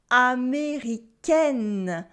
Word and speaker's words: américaine: And that's why you also have different pronunciations for américain, which is American in the masculine form, and américaine, which is American in the feminine, because we add in an E. And here adding an E in the feminine form makes the pronunciation change.